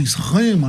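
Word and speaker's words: σχῆμα: A primeira delas era esquema, ou esrema, na pronúncia do pastor Roberto Cruvinel, que era uma aparência externa, como quando uma miragem toma a forma de água.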